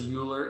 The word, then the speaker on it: Euler: Right, everyone wants to pronounce this Euler.